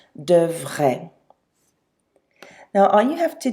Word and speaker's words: devraient: So don't let all of those vowels on the end of devrait get you confused with the pronunciation. A-I-E-N-T, but it's still pronounced devrait.